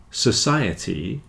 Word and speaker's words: society: there is stressed but when you've got a ety or it on the end it's always the the the syllable before that that takes the stress in reality Society has